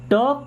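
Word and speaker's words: talk: या यहां ध्यान दो टॉक प्रॉपर्ली टॉक मीस क्या होता है जी बात करना टॉक मीस क्या होता है बात करना यहां पर एल हो जाएगा silent okay टॉक properly properly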